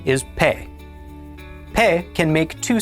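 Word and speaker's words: פה: The pe has a dagesh, so it is pronounced p. The segel is pronounced e, and the he at the end of a word is silent. Altogether, this makes pe.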